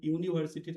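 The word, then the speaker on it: university: ইউনিভার্সিটি অর্থাৎ Yuta you এর মতই উচ্চারিত হচ্ছে। তাই ইউ এর ইউ ইউনিভার্সিটির আগে আমরা কখনোই কিন্তু এন বসাবো না।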